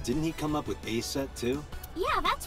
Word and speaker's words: Aset: But in ancient Egyptian, it's pronounced closer to Aset or Aset.